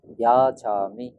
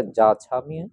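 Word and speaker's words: যাচামি: বইয়ে পাবেন যাছামি। অন্তস্থ জ, পালিতে উচ্চারণের সময় অন্তস্থ অ, তারপরে সাথে অকার। ইয়া রা লা ওয়া, ইয়া রা লা ওয়া, পালি ব্যঞ্জন বর্ণ। সেক্ষেত্রে এটা যাছামি হবার কোনো সুযোগ নেই।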